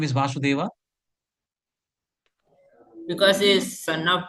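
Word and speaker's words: वसुदेव: So, in the pronunciation, sometimes we get confused. So there are two words, Vasudeva and Vasudeva. So Vasudeva is husband of Devaki Mataji, and Vasudeva is Krishna.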